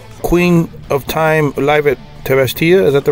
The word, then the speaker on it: Tavastia: So you guys have a live album, Queen of Time, live at Tavastia. Is that the right way you pronounce it? Yep. Tavastia, dropping October 13th.